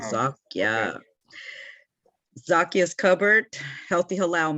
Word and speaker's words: Zakia: It's actually Zakia, 2 syllables, Zakia.